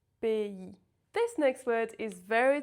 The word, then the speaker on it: pays: The correct pronunciation is pays. When you see A and Y together, it makes the sound EI.